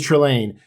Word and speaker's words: Trelane: His name is Trelane.